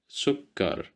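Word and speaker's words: سكر: Sukar sukar sukar which means sugar. So here we have dhamma that's why we pronounce it as sue. We didn't say c or s. We said sukar.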